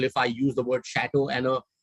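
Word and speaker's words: château: that's the word it's the word is pronounced as shadow shadow is also a popular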